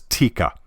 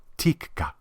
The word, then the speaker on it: Tikka: Finnish way it's TI there's a slight pause between the two KS and I don't know sounds prettier that way Tikka all right while we're